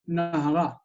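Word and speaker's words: נהרא: So instead of hanahar, it's nahara, and the accent is on the end.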